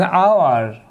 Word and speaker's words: hour: an honest man an hour and our here also h is not pronounced so we shall use